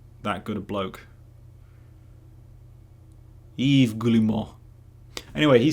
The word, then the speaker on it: Yves Guillemot: The Ubisoft CEO, Yves Guillemot? Am I going to look up how to pronounce it, or am I going to continue